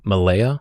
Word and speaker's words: Malea: And for the guy listening right now, this is basically Troy, where, of course, Odysseus is battling, to Ismaris, to Cape Malea. Is that pronounced correctly?